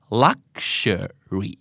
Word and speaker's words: luxury: luxury ภาษาไทยถอดโนวาลักซ์ชัวรีนะครับภาษาอังกฤษ l u x you are Wild เจ้าของภาษาออกเสียงว่า luxury รักเชอรี luxury luxury luxury นะครับอันต่อมาสีเมจิกการแสดงเมจิกโอมันช่างเป็น magic moment เหลือเกินเป็นช่วงเวลาที่วิเศษเมจิกเอาในช่วงเย็นพบ